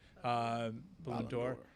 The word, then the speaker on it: Ballon d'Or: Boy, I mispronounced that. Ballon d'Or. Ballon d'Or. Yeah. I always want to make it a balloon.